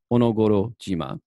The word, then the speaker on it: Onogoro: no goro and then here we have shima or jima because it's in combination so this whole thing right here is read as onogoro and but this is